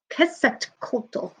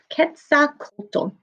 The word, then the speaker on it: Quetzalcoatl: And it's pronounced, let me look at the pronunciation, Quetzalcoatl. Quetzalcoatl.